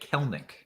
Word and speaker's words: Kelenic: saying on the broadcast they've been pronouncing it kelnick kelnick so maybe uh maybe I'll go with that from now on uh